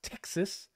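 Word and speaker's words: Ptyxis: the terminal it's pronounced Texas um the p is silent and because naming things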